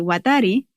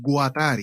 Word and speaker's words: Guattari: resalta el libro de las tres ecología de watari que presenta una postura fin con la ecosofía